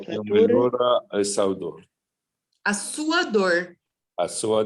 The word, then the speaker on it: melhora: O que Fatores, melhora a sua dor? A sua dor. A sua dor. Mhm. fatores atenuantes. Mhm. O que melhora a sua dor. Yes. Melhora, I pronounce it right?